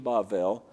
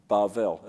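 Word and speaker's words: בבל: So that's the original origin of the name Bavel, Babel in English, which the Greeks turned into Babylon. Babylon is the Greek form, which crept into our Bibles of the Hebrew word Babel, or Bavel, as they would pronounce it.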